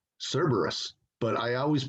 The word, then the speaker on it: Cerberus: 80s early 90s called cerberus but i always pronounced it wrong i always pronounced it cerebrus i don't know why